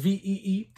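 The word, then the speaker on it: Vie: donni VI all right Donny V uh spelled VI i e pronounced ve uh Donnie his catalog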